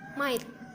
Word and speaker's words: mite: Kemudian ada myth, tulisannya mite, kita bacanya myth ya.